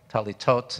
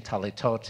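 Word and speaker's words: טליתות: you are wearing teletot talitot is the plural for talit sometimes it's called talus which is the ashkenazi uh pronunciation teletot is the sephardic and the way they say it in israel these days you'll notice on the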